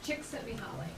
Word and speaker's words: Csikszentmihalyi: Christine, how do we pronounce his last name? Csikszentmihalyi.